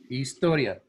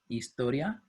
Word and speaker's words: historia: would you pronounce it historia very good historia the h is actually silent so it doesn't make a sound uh in all all